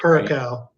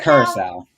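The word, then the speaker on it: Curaçao: Curacao. Yeah. Is that how you say it? I don't know. Is it correct? How do you say it, Jim? I say Curacao.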